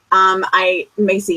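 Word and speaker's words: Maisey: by a romance author named Maisie Yates. Macy Yates, I should say. I always pronounce her first name incorrectly, but they're really great books about cowboys and what's not to love about a cowboy.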